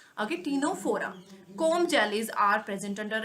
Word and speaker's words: Ctenophora: Then next is Ctenophora, C is silent here, okay, Ctenophora.